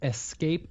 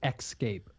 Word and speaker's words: escape: Bob I have to interrupt you Scott it's pronounced escape not xscape okay thank you well I know I didn't